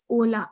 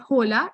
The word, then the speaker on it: hola: end of the word h is always and always silent so it is ola it is not hola it's hola yeah ola